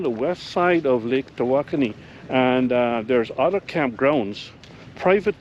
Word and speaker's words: Tawakoni: Lake Tawakoni. Hey, I pronounced it right.